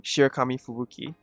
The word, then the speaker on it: Shirakami Fubuki: Alright, how do you pronounce her name? Shirakami Fubuki, right?